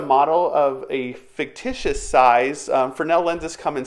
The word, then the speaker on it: Fresnel: Now, it's spelled Fresnel. There's an S in there, but again, it's Fresnel. It's a French term.